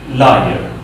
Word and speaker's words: liar: This is liar.